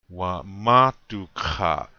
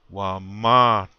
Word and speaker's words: wamatuka: This word means I'm tired. Wamatuka. Again, on the second syllable. Wamatuka.